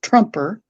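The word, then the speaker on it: Troemper: The the one that I use for Trump is spelled T R O E M P E R and it's pronounced Trumper.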